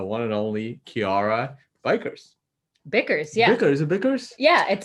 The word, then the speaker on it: Bickers: today is the one and only kiara bikers bickers yeah is it bickers yeah i don't know i never pronounced people's last names she'll probably check it's